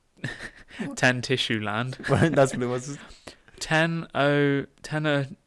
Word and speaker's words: Tenochtitlan: The university first opened in 1096, while the Aztec Empire is considered to have originated with the founding of the city of Tenochtitlan.